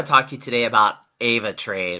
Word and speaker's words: AvaTrade: to you today about Ava trade or Abba trade expends how you say it it's a v8 e ra te um Ava trade I'm just gonna use that as my way of saying it Ava trade is basically